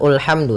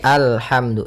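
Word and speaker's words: الحمد: Maka apabila ada alif lam di awal bacaan, maka a-nya dibaca dengan fathah. Alhamdu. Nah, di sini bukan ulhamdu tapi alhamdu.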